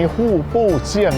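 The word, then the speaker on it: 户部巷: คุณ ผู้ ชม ครับ ออก เสียง ประมาณ นี้ ู้ ปู้ เชี่ยง นะ ฮะ 1 กม คุณ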